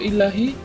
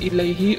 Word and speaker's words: ilaihi: Yang benar, inna lillahi wa inna ilaihi roji'un, kata dia membetulkan.